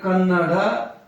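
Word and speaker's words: ಕನ್ನಡ: तो ऐसे ही लिखोगे अगर ल दोगे ना इसको ये कन्नडा हो जाएगा डा नहीं चाहिए हमको हमको चाहिए कन्नड़ कन्नड़ चाहिए तो मैं रोमन के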